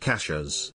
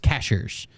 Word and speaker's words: Cashiers: re-subscribed for seven months Cashiers North Carolina is pronounced cashas oh I had to read that um cashier's North Carolina is pronounced cashiers yeah it's clearly spells cashiers CH or c-a-s-h-i-e-r-s is pronounced Cashers uh that sounds about right so it's Belton